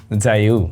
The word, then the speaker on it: Jiayou: এটার উচ্চারণটা একটু ডিফারেন্টভাবে হয়, JIAYOU, জাইউ।